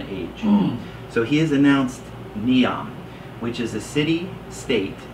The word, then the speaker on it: NEOM: is to be called neon n-e-o-m think of neo meaning new n-e-o new and then the m it stands for a